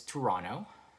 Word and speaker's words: Toronto: So again, the first one is Toronto. You don't really pronounce the T there, right?